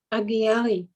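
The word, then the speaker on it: Agiary: Like all faithful Zoroastrians, he would attend his local Agiri, how do you say that, Agiri or Agiri? Agiari. Agiari, Agiari. Yeah, that's what I think.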